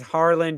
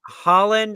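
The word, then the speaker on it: Haaland: just a reminder that when Gary says Harland he is talking about uhing Holland and he's not talking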